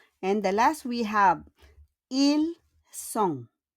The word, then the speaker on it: Ils sont: And the last we have, ils sont. On ne prononce pas le S et le T à la fin.